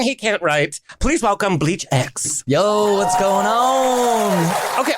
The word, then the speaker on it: BLEACHx: can't write please welcome bleach X yo what's going on okay what the hell is bleach X like what what is bleach X well well the x is silent it was kind of